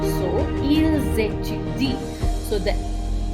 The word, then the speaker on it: ils étudient: Although there is an S at the end of il and elle plural, I will not pronounce it unless it is followed by a vowel sound. For example, ils étudient, they study.